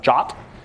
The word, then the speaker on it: JWT: Um the ID token is something called a JSON Web Token or a JWT, sometimes pronounced as a jot.